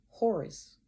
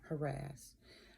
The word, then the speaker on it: Horus: side of the neck um horus not harass horus is again what